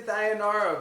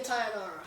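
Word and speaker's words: Thainara: First fight of the night, we got Alexia Thionara versus Bruna Brazil. I'm going with Alexia Tionara. Okay, I said her name wrong and you said it right, so that means you're going to win.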